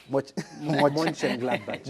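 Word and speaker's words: Mönchengladbach: Monchengladbach.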